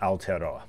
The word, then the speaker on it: Aotearoa: So the indigenous name for New Zealand, or the Maori name for New Zealand, is Aotearoa. Aotearoa, okay. Rewiring Aotearoa.